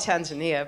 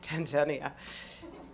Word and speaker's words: Tanzania: which leaders I'm re I just came back from Tanzania that's how they say it there aren't I cool we call it Tanzania but they say Tanzania and they correct you I'm hi it's so